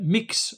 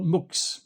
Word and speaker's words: Mx: It can be pronounced pronounced either mix or muk.